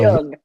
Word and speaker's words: Jung: I just learned how to pronounce Jung. So Jung.